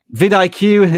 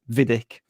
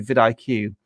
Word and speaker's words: vidIQ: VidIQ is kind of memorable, but people always mispronounce it. Vidic, for example.